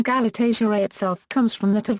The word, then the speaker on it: Galatasaray: It is important to keep in mind Galatasaray is a compound word and it is pronounced as such. The most common mistake that is done by non-Turkish speakers is to intonate as Galatasaray, while the correct enunciation